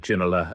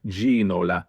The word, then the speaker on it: David Ginola: And David Ginola, Spurs would constantly be bringing up the broadcaster, saying it's Ginola, it's Ginola.